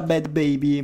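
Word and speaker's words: Bhad Bhabie: troviamo bye baby e comunque si pronuncia così perché ho cercato su internet con gli si pronuncia bye baby mi raccomando scrivete nei commenti che non si pronuncia così perché ho cercato su internet mi sono informato cercato le fonti e quindi si pronuncia bad baby e comunque chi è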